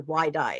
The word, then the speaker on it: YDI: Ydy, there's a really good punk band from Philly called YDI, by the way. They're but they're Yi is how they pronounce it.